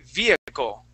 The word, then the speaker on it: vehicle: Okay, let's practice that V sound. Vehicle. Vehicle. Okay, almost. So, Kubra, when you pronounce the V, all right, you want to put your top teeth, okay, these right here, on top of your bottom lip, okay, but not hard.